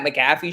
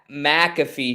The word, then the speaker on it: McAfee: you guys saw he was on the Pat McAfee show today did I say it right Pat McAfee Jesus Christ the Pat McAfee show today and uh McAfee yeah I'm sorry